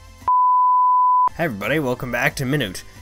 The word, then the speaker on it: Minit: everybody welcome back to minute hour minute however it's pronounced I kept calling it mint last time I am sorry the name of this 100% definitely not mint anyhow I don't actually